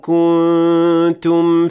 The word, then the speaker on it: كنتم: That's right, the noon in the word kuntum, which is an indication that the noon will not be fully pronounced in this case because of ikhfa.